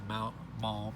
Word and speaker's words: Maugham: And we saw one of these, or yeah, this one's number 4 last week, and it is Maugham, or as far as how it's pronounced.